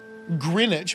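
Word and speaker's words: Greenwich: know what GMT is greinwich meantime which is weird cuz it's spelled green and then which with a W all of us is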